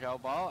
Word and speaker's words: Jow Boe: I I told him that my name is Jo Boo and it's common spelling his name's joob Boo